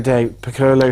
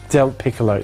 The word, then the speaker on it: Del Piccolo: That's De Piccolo, who came home in 7th here today from Virginia. Yeah, and for the next time, my surname is spelled Del Piccolo. Del Piccolo, there you go.